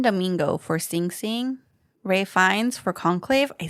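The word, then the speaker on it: Fiennes: complete unknown colan Domingo for sing sing Ray fines for conclave I said it right Sebastian Stan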